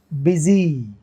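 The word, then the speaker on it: busy: BU, ऐसा देखो, यू से ई का साउंड बन रहा है, बिजी। वाई से तो बनता ही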